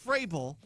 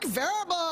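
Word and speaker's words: Vrabel: of the year, Mike Frabel of the New England Patriots, had his name pronounced ever so confidently by some rando, strong, powerful, independent woman. 2025 AP Coach of the Year is Mike Verbble.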